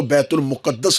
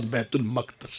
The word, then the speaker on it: بیت المقدس: چبوترا بنا ہوا تھا۔ بعض لوگ اس لفظ کو بیت المقدس بول دیتے ہیں، اصل لفظ تلفظ کے ساتھ بیت المقدس ہے۔ بیت المقدس میں ایک کمرہ